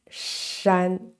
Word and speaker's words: 山: the evolution of this character Mountain which is pronounced Shan sh the mountain where how about this one